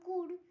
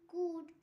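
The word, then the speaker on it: could: ডি এর আগে এল silent rule, যেমন কুড, সিওইউএলটি, কুড।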